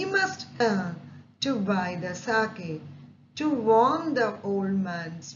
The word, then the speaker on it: sake: How do I get a little sake for my poor old father? Here, sake means a popular Japanese drink. Sa is pronounced like fa in father and K rhymes with way. Okay, sake.